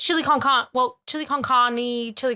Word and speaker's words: chili con carne: It's chili con carne. Well, chili con carne, chili con carne. Like it's there's an E at the end. I thought the E was like not to be pronounced.